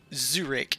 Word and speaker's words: Zurich: because i keep mispronouncing zurich it's it's not zurich with jay it's very hard to